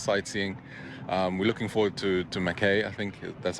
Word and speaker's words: Mackay: We're looking forward to Mackay, I think that's how it's pronounced. Yeah, Mackay.